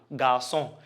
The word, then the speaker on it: garçon: So that CD changed the K to what? S. Okay, it changed the K to S. So that's why you have, for example, garçon. If you remove it, if you remove the CD, it will become garçon.